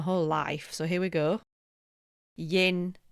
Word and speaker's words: yin: life so here we Yin rhymes with dim and dim is relaxed.